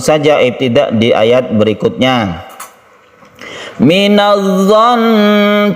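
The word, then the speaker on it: مِنَ الظَّنِّ: Minadh-dhon, cara membacanya sukun tasydid nun, yaitu guna ketika waqaf itu tetap digunakan dengan ditekan ke nunnya. Minadh-dhon, dan ditahan. Minadh-dhon katsiran minadh-dhon.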